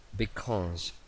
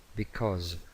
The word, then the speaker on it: because: Ahora, because, because, because, because. Es una S entre dos vocales.